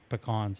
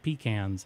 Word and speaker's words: pecan: to sound petty, but people pronouncing it incorrectly. And that's why I put the thumbnail as I did for the show, is it's pecan bro, because people still call it pecans, and I just want